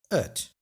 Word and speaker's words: het: But het is usually also pronounced as ut.